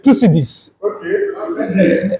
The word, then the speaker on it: Thucydides: Oh, well, let me just pronounce this way. Thucydides.